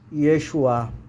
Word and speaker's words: Yeshua: Pronúncia em português, Yeshua.